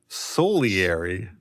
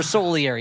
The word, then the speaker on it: Salieri: he is depressed because of his rival Solieri. That's how they pronounce it here.